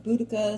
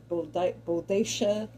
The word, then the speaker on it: Boudica: Not that I'm like the world's biggest expert on history, but you remember Queen Boudica, some people pronounce it Bodacious.